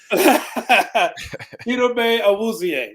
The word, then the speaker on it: Chidobe Awuzie: Chidobe Awuzie. That's how you pronounce his name.